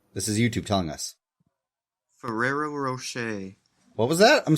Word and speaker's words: Ferrero: there's too many RS in there ferero it's Ferrero it's a person's name pronounce it French likee I'm going to spell